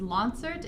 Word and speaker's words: Lonsert: last name it's pronounced LAN cert exams a concert with an L I was at an